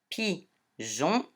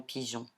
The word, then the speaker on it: pigeon: Voilà, le E fait chanter J. Et ici, on ne le prononce pas, comme dans pigeon.